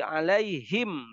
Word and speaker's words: alaihim: Tapi kalau harokatnya kasroh atau sukun, sebelumnya kasroh, itu dibacanya hima, him. Contoh, ghairil maghdubi alaihim.